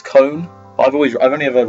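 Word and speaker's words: Kon: and they went what it's con from Bleach I was like oh apparently I say it wrong apparent it's cone I've always I've only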